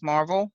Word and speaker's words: MRVL: That's our company, as Marvel is the way it's pronounced.